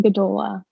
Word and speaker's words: Gdula: Um, yeah, my name is Gdola, so it's easy to picture that.